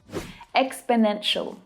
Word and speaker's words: exponential: Exponential.